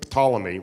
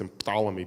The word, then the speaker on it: Ptolemy: told that uh King Ptolemy though in English we don't pronounce emphalomy because in English we don't like Words that start we call them Ptolemy the p is silent Aaron pankin this is